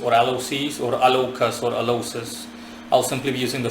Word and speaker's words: Alloces: alocis or alas or alosis I'll simply be using the former I'll Simply Be pronouncing it alosis uh he is a